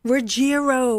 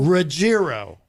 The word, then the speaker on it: Ruggiero: I always think it's a soft G. I always say Ruggiero, but it's Ruggiero.